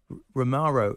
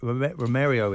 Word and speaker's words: Romero: they can feel that now romaro Romero in that in that um I never say his name Romero Romero the Spurs Defender when